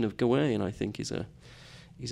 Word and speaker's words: Gawain: re rebelliousness you know most people tend to say G way um but I know from the text or I'm I'm convinced from the text that uh that we are able to pronounce it both ways uh sometimes the poet alliterates on the G sound sometimes on on the w and I've always grown